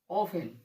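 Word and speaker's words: often: देखा आप लोगों ने, यानी जब टी के बाद ईएन और सीएच आता है तब टी का उच्चारण हम नहीं करते हैं। टी साइलेंट लेटर होता है।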